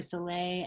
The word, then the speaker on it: Sellet: I'm Soleil it's spelled like sell it but it's actually Soleil and so I'm at